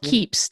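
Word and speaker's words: Keap: system that you use for that it's called keeps tell us a little bit about this system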